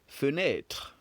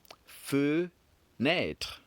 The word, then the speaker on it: fenêtre: Fenêtre. Fenêtre. Good. And the first syllables we're looking at here is feu. Fe makes it one syllable and net makes it the second. So if we're asked how